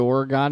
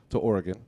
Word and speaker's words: Oregon: move his family to Oregon. You got to say it right, Mystery Mark. Oregon. Not Oregon. Not Oregon. Oregon. Damn, It's sorry. It's like the two words, or again.